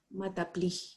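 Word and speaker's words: maths appli: hacer una especialidad en mata play y se pronuncia así con acento en la hija porque son franceses entonces bueno ahí viene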